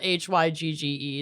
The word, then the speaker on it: hygge: their cozy little um hygge hygge hey what it's spelled h-y-g-g-e yeah people call it oh it's hygge didn't they make